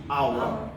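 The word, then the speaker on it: hour: যেমন আওয়ার, এটাকে আপনি কখনোই হাওয়ার বলেন না।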